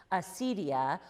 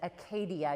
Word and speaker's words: acedia: the question of acedia, or as actually my table mate tonight at dinner said, Acadia. You could pronounce it that way too. You sometimes see it A-K-E-D-I-A, or it could be acedia as well.